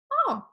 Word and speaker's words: au: word au which is pronounced oh just like the letter O but notice for these